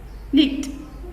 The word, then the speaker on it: knit: Knit. K is silent.